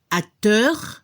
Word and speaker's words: acteur: La pronunciación para el masculino se escuchó un poco la R al final, acteur, y al femenino se debe escuchar la S al final, actrice.